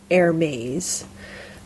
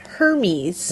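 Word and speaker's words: Hermès: a French word so it's a French word so so a lot of people call it Hermes right it's like the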